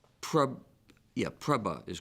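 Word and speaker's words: prabhu: Sanskrit I'm I'm sorry Jim it's PR yeah preba is correct preba are there any other pronunciations there are no alternative pronunciations prba uh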